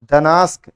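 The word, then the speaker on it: Gdańsk: डनास्क डी से लिखा होगा। अच्छा जी है, हाँ जी, जी साइलेंट रहता है, ठीक है, जी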